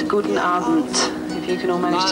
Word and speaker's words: guten Abend: It's guten Abend, if you can all manage to say that.